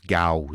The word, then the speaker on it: Gaos: c'est ça euh ben en anglais il prononce Gause Gaos ok on va le prononcer comme ça gos il y a qui